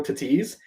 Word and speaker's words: Tatis: So I've always said Fernando Tatis. The amount of people who call him Tatis, like they really pronounce that A.